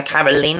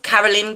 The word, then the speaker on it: Carolyn: So I don't know if we would say Caroline, but they're calling her Caroline over there. Anyway, I've heard it pronounced Caroline, so that's what we're going to say. So her mum, Carolyn Parsons, her dad, Billy Dean Goodman.